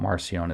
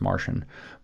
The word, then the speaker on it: Marcion: It's not Marcion, it's spelled Marcion, it's Marcion.